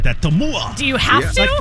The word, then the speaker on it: Tumua: Tumua.